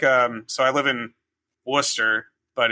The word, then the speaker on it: Worcester: Yeah, it's like um so I live in Worcester, but it's you know spelled like Wesshire.